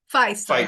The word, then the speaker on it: Fiest: yeah super and tell me how do you pronounce your surname it's fiest or Feist how do you say it what you Feist got it right yeah I I said B